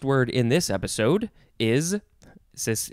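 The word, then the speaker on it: chthonic: in this episode is sis it's spelled funny but it's just pronounced sonic with a th sound phonic y is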